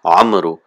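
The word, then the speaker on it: عمرو: The waw is just written, it is not pronounced, it's not amru. We don't prolong it, we don't elongate it, it's just written.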